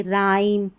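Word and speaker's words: rhyme: देखिए RH से शुरू हो रही है ना स्पेलिंग, यहाँ पर भी हमारा H साइलेंट होगा। जैसे यहाँ देखिए राइम, इसको पढ़ रहे हैं हम रिदम, और ये हमारा है राइनो, और ये हमारी स्पेलिंग है राइनोसर्स, राइनोसर्स।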